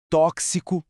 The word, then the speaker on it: tóxico: É só prestar atenção na pronúncia destas palavras: táxi, tóxico, fixo. Dá para ouvir aquele som inconfundível de ks?